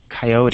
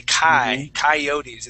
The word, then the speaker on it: coyotes: Coyotes. Yeah. Exactly. So that beginning part, we would not say koi, we would say coyotes.